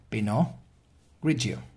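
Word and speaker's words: Pinot Grigio: and it is actually in France we say Pinot Grace or in Italy we say Pino ggio clear this grape skin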